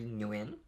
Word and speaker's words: Nguyen: is your name so my name is Ewan and that's so ng u y en for anyone who can't